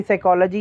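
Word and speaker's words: psychology: Like जैसे कि साइकोलॉजी है, कहीं उसको पी से, कईयों को पता ही नहीं कि उसको पी वर्ड साइलेंट है.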